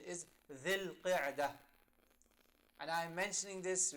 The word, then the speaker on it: Dhul Qa'dah: These linguistically correct pronunciation is Dhul Qa'dah.